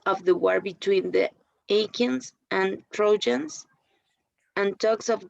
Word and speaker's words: Achaeans: And give the Achaeans. Which word, sorry? Hold back and give the Achaeans. Achaeans. Like Achilles, okay.